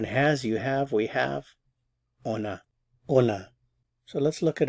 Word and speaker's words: on a: But when you use the verb avoir, because it begins with a vowel, there's liaison, so we have to pronounce the N.